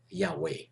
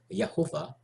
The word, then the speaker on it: Yahweh: your table in Hebrew which I like to pronounce as Yahweh some people pronounce it for Hebrew letters of your Tawaf a as Jehovah and others as yahuwah instead of Lord L